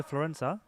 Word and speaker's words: Florenza: Ash Rowson off now, and we have on Diego Florenza. Had to figure out that pronunciation last week.